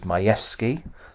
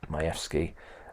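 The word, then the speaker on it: Majewski: and I put there the case of mayki that's how we pronounce it mayki as the key case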